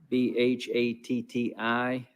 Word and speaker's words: Bhatti: out but just be patient with me dr b-h-a-t-t-i carefree medical lansing michigan are you with us